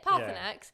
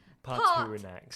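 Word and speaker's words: Paarthurnax: Yeah, Parthanax is how it's said, how it's pronounced, but my brain goes Partunax.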